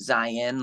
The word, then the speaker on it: Zion: Mount Zion but um I pronounce it Zion like Lion but with a z but um but that's